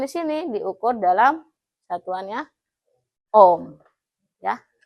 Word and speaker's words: ohm: Resistance di sini diukur dalam satuannya ohm ya. Tapi dibacanya jangan sampai dua kali ya itu jadinya om-omm seperti itu.